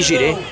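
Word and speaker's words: Jireh: Lembrando que Gire se escreve J-I-R-E-H.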